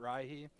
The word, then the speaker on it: Rihi: I always pronounced it Rihi, which definitely pisses some people off, which kind of makes me enjoy it more. I know it's like probably not how it should be pronounced, but uh, it's my